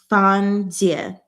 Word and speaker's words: Fan Jie: Fan Jie. Fan, not fan. Jie. So that's how we pronounce that.